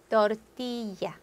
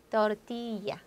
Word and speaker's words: tortilla: L 하나짜리만 리을 발음되고 L 두 개짜리는 tortilla, tortilla, llama, llama.